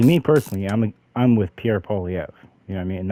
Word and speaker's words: Poilievre: See, me personally, I'm with Pierre Poilievre. You know what I mean? And that's how you pronounce his last name. It's Poilievre. It's not Poilievre or nothing like that.